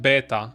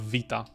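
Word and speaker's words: βήτα: funny like I would I would have said beta instead of Vita or VA rather let me know what you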